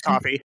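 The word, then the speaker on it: Ko-fi: So it's actually on my coffee so it's How do you pronounce the coffee the k o f i is coffee right? Yeah yeah it's coffee.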